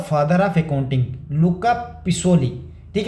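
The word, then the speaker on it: Luca Pacioli: अब देखो इसको अलग-अलग प्रोनाउंस करते हैं यार। एक लुका पिसोली कहते हैं। एक को मैंने देखा लुका पिशोली इधर कोई और ही प्रोनाउंस कर रहा है। एआई कुछ और ही बोल रहा है। ठीक है? तो मैं इसको लुका पिकोली ही बोलूंगा जितना मुझे लग रहा है बोलना।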